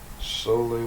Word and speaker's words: Sole: So let me find something on Sole water real quick so I can tell you about it. It's spelled S-O-L-E. It looks like soul water, but it's Sole, S-O-L-E.